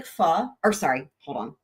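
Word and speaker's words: phở: people love talking about food so so I know so by the way what it looks like f or sorry hold on it looks like fo it's pronounced F that's the short version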